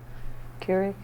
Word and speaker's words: Keurig: Keurig. Okay. Am I saying it wrong? No, you're saying it right.